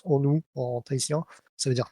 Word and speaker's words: honu: recap les onou alors vous pouvez dire ONU euh on vous en voudra pas mais ça se prononce onou en thïen ça veut